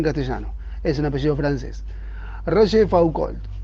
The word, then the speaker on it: Rochefoucauld: El orgullo no desea deberes, escribe la Rochefoucauld, apellido difícil de pronunciar en castellano, es un apellido francés. Rochefoucauld.